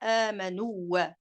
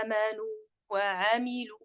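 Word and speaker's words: آمنوا وعملوا: temps suffisant pour donc ne pas fusionner le waw dans le waw. On ne dit pas amanu, c'est clair? C'est illa alladhina amanu wa amilu.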